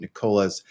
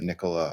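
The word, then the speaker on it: Nikola: um want to thank our sponsor which is nicolah discover the future of Transportation today visit Nica's website and explore their zero emissions Class 8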